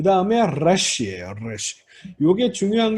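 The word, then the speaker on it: ריש: 래쉬. 이게 이렇게 떨리는 발음이에요. 떨리는 발음입니다.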